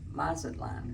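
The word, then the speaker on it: Mazatlán: Yeah, so we didn't get much sleep, but today is day 4, January 10th, and we're going to Mazatlan. Is that how you say it? Correct. Mazatlan, Mexico.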